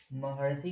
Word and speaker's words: महर्षि: महर्षि का, महर्षि को जो आप लिखिएगा और इसका उच्चारण करिएगा, महर्षि का जब उच्चारण करिएगा तो इसमें अंत में महड़, महड़ सी आएगा, महड़ सी आएगा।